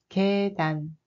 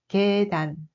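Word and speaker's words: 계단: Kédan. Ce sont des escaliers. Regardez bien la première syllabe, quelle voyelle composée est utilisée? Oui, c'est avec ye, yoi, pas yai. Kédan.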